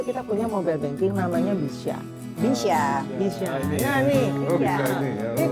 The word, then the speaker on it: BYSA: Iya, B-nya itu BCA, Ya. Sya-nya Syariah. Jadi bacanya Bisya.